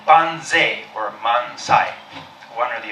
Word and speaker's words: banzai: So it was Toyama Masukazu who suggested it be pronounced banzai.